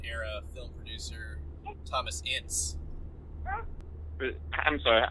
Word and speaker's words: Ince: I've always pronounced it Ince. Ince? Like inch, but with a soft s instead of Okay.